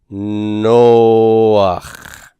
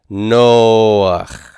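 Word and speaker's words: נֹחַ: to show you that the actual pronunciation of this is going to be no, and then the A vowel first, and then the chet. Noach. Noach.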